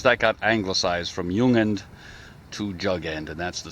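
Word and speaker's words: jung: but the prefix there Yung y u n g uh I'm sorry no it's j n it's pronounced with as if it's a y ju NG uh is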